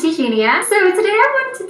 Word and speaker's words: Eugenia: So, there is a YouTuber by the name of Eugenia, or she pronounces it Eugenia, and she's a YouTuber by the name of Eugenia Cooney, and all I gotta say is, yikes, dude.